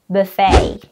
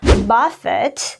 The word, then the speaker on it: buffet: word you might say that this word is pronounced Buffet you're right you read that way if you are referring to a meal where people serve themselves different types of food however you have to pronounce is Buffett if you are referring to a verb which